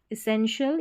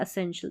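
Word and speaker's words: essential: को शल पढ़ते हैं, इसेंशियल या असेंशियल दोनों तरीके से ई या ए करके पढ़ सकते हैं इसी को, बस यहाँ पर TIAL को शल या शियल करके पढ़ते हैं, तो असेंशियल या असेंशियल।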